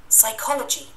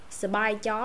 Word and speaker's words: Psychology: Anh nó khó hơn anh Mỹ một chút. Psychology chữ khó nó đậm hơn. Anh Mỹ nè. Psychology. Psychology. Nó đỡ đỡ hơn. Psychology. À, Psycho hay psycho gì cũng được hết. Psychology, miễn đừng có spy chó là được.